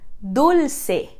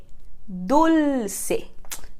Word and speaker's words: Dulce: relação a nossa pronúncia lembra daquele L que a gente viu em espanhol papel aqui a gente tem esse L mais exagerado no meio de uma palavra Então repete comigo Dulce Dulce perfeito e última coisa